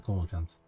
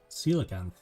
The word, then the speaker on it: coelacanth: The coelacanth.